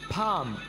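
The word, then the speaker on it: thumb: form ए form यहां पर हम मेल को साइलेंट रखेंगे तो कैसे बोलेंगे थम फ्रॉम हथेली थम जी हां दोस्तों यहां पर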